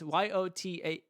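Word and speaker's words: Yōtei: Yotai. It's Yotaei.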